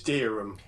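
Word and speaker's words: Dereham: How do I pronounce the town in which your pub resides? It's Darham.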